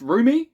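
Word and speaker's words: rheumy: It's pronounced roomie.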